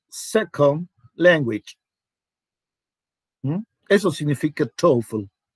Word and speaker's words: TOEFL: Eso significa TOEFL. Se pronuncia como toe. Toe es dedo.